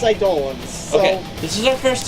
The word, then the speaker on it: Eidolon: first time meeting an idol line so I don't want hi darlin excuse me I thought it was I'd live well in this game they pronounce them as Eidolons okay this is our